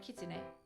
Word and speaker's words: kitsune: fox and qb so kitsune remember with that sue sound you it's not su you gotta put like a little hardness to the front of it because that's the t yes q means nine